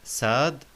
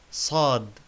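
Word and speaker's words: صاد: Sad, not Sad, but Sad.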